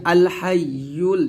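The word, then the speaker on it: الْحَيُّ: এখানে আমরা অনেকে ভুল করে আল হাইয়ুল ইয়ার উচ্চারণটা সঠিকভাবে আদায় করতে পারি না। তো অবশ্যই আপনাকে ইয়ার উচ্চারণ সঠিকভাবে আদায় করতে হবে।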